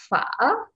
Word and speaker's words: phở: Phở, so this one, the beginning consonant is a complex consonant. It's a consonant cluster created by P and H. Together, it's make a beginning consonant. And the van here is just a letter and yếu hải is the tone.